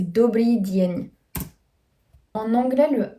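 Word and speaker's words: Dobrý deň: Le D, avant le E et le I, il est toujours prononcé dans sa version faible. Ce ne sera pas prononcé de, ce sera prononcé die. Donc c'est pour ça. Donc là, c'est Dobry Dien.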